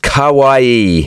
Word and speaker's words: kawaii: ah that sucks bro it's pronounced Kawaii not to be confused with Hawaii however is the culture